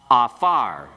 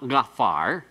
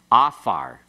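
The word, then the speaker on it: עָפָר: So afar, pronounce it, afar. No, it's not gafar. Afar. You just have to remember this doesn't have that deep guttural sound. The ayin is silent.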